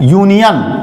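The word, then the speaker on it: union: Word की शुरुआत जरूर अल्फाबेट, इंग्लिश अल्फाबेट के वावेल लेटर से शुरू हुई है, लेकिन जब प्रोनाउंसिएशन करते हैं तो ये भी प्रोनाउंसिएशन या अक्षर से शुरू होता, जो कि हिंदी वर्णमाला में किस कैटेगरी में आता है, व्यंजन में। तो यहां भी हम यूनियन, इसका भी उच्चारण या अक्षर से हो रहा है, इसलिए यहां भी हम क्या लिखाएंगे, आ।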